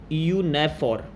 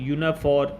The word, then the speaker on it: EU NAVFOR: यूनाफॉर या EU NAVFOR, जैसे आप इसको प्रोनाउंस करना चाहे कर सकते हैं। आप सिंगल इसका नाम भी ले सकते हैं, EU NAVFOR, जैसे मर्जी आप प्रोनाउंस कर सकते हैं।